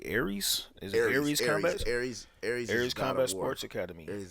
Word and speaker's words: Aries: Aries Combat Sports Academy.